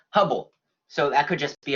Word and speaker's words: Hubble: It rhymes with bubble. Herbal? Close. Hubble.